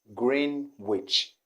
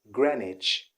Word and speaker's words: Greenwich: a friend who had a challenge trying to pronounce this particular city he always called it green witch green witch like a green witch but i